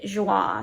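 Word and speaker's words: Joie: popped up and this the brand is actually joa so um j-o-i-e I believe is how it's spelled if I can find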